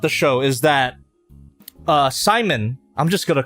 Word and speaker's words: Simon: show is that uh Simon I'm just going to call him Simon I know they pronounce it as Simone in the dub and Shimon in J Japanese but it's [ __